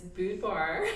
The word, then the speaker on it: boudoir: So there's the Southern way, which is boudoir.